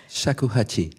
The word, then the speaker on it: Shakuhachi: Je vous laisse le prononcer parce que... Shakuhachi.